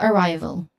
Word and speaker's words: arrival: Now this is this word has three syllables. The stress here falls on the second syllable which is ry.